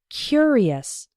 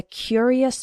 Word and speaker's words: curious: when we pronounce it the adjective form is curious the first syllable is strong he was a curious boy and in the